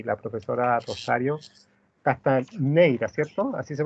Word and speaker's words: Castanheira: la doctora Nancy Ross y la profesora Rosario Castaneira, ¿cierto? ¿Así se pronuncia? ¿O Sí, Castañeira?